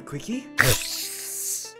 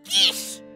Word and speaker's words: quiche: Hey, do you guys want a quickie? What the heck are you singing? You know, one of those egg tart things? They're selling some at the store over there. Oh god, Yuji! It's pronounced quiche!